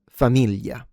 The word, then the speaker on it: famiglia: So, people in the south tend to uh reduce it or simplify the sound and basically pronounce it like a Y.